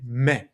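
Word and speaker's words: με: The word for me in Greek me is very very close in the way that it looks and it sounds to the English me. And in Greek we say me.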